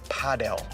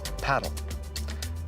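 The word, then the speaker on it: padel: All of the pros say paddle. A lot of European countries have always said paddle.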